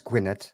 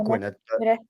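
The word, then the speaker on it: Gwynedd: how would you spell how would you pronounce Gwyneth it's not guinnard Gwyneth not Palace not pembrokeshia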